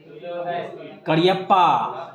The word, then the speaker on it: Cariappa: And first chief of the Indian army general करियप्पा, ये करियप्पा पढ़िएगा, इसका के नहीं है, सी है, लेकिन इसका प्रोनाउंसिएशन करियप्पा होगा, KACARIAPPA was a Kurgi.